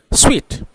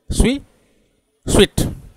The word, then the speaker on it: suite: This word SUITE को कैसे बोलते हैं। ये ब्रिटिश प्रोनाउंसिएशन स्पीड होता है, फास्टेस्ट होता है, इसीलिए मैं इसको डिवीजन कर देता हूँ, आप समझ में पाएंगे। स्वीट, स्वीट, स्वीट।